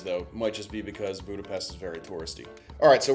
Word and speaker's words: Budapest: Anytime you see an S in a word, it actually makes the sh sound, like Budapest is actually correct.